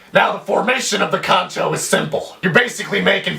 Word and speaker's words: kancho: is known as Kono pronounced exactly the way it's spelled kcho now the direct translation